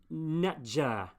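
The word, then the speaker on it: nṯr: Nater, I think pronounced nater. Probably actually it would be pronounced netjer, in fact, because the T is capital and sometimes it's a TJ or considered that.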